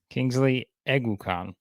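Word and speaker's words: Kingsley Eguakun: Kingsley Eguakon is how you pronounce it. So that's it. Eguakon. You got to remember that.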